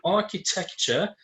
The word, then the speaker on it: architecture: Or for example, the word architecture, that there are supposed to be 4. Architecture. The 4 syllables, the stress is on the third syllable.